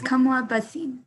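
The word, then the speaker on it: Kamla Bhasin: uh put back a stereotype I would say kamla bashin is that how you say it or yeah it's it's Kamala Basim okay uh I would choose Kamala Basim because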